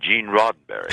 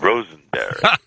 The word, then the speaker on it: Roddenberry: I mispronounced his name. I called him Mr. Rosenberry, and he, in turn, also made a mistake in pronouncing my name.